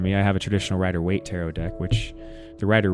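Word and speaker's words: Rider-Waite: other decks around me I have a traditional ryer weight Tarot deck which the ryer weight ryer weight Tarot deck is the is the way it's pronounced is the oldest not the oldest there's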